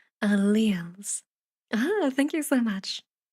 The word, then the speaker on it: alleles: Oh, Gunsey says you pronounce that alleles.